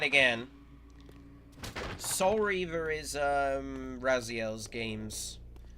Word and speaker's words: Raziel: and it's and yes, I am calling him Raziel because that's the corre correct pronunciation.